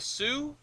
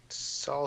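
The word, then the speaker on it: Sault: what is the so called the sue the Sue uh that is the Chicago Minneapolis and St Marie or something like that Saul St Marie I think yeah well it's pronounced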